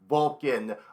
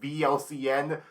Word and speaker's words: VLCN: no saying your name I said vlcn like YMCA I I know was you pronounced it just vul like VC yeah yeah it's I